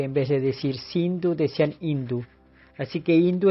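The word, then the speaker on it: Sindhu: río el Indo que en sánscrito se denomina sindu los mahometanos pronuncian la S como h en vez de decir sindu decían hindu Así que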